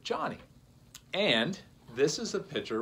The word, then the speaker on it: Joni: woman whose name is Johnny Erickson Tada. Her name is spelled J-O-N-I, and a lot of people do pronounce that Joni, but she pronounces it Johnny.